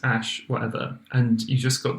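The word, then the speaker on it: æ: that it is that the ae symbol is actually pronounced ash it's an ash symbol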